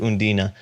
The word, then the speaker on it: Undine: And I think last time I said that Undine was we're gonna pronounce it every single way, but in the film they pronounce it Undine.